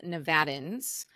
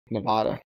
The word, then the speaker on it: Nevada: to do business in Nevada and they pronounce it wrong. I'm like, buddy, you got to start somewhere else first. Yeah, you lose all credibility when you say Nevada.